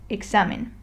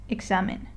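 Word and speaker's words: examen: group of words and we have to stress the next to last syllable which in this case is the X and A so the proper way to read it would be examine here we stress the mes examine okay I'll demonstrate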